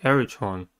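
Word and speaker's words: elytron: The next word is eretron, the singular of elytra. Eretron has three syllables and the stress is at the first one.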